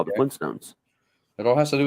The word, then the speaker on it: Flintstones: There is 2 T's, but most people don't pronounce the first T, which is why people didn't realize there was a 2 T's in it. We say Flintstones. We don't call it Flintstones. We just call it the Flintstones. But that's just because of how we pronunciate things, not because there isn't a second T in it.